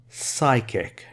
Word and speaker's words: psychic: feelings is the strongest psychic connection this is pronounced as psychic nopee psychic connection you communicate using the mind